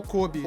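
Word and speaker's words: Koby: A gente acabou não citando aqui, me ajudem com a pronúncia, Kobe ou Kobe. O Kobe, sim.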